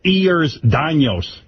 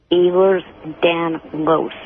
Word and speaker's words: Ehlers-Danlos: It's Ehlers-Danlos. Ehlers-Danlos. Then why do you spell it with an I?